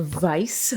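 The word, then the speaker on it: Weiß: In game, I believe it's actually pronounced a Vice.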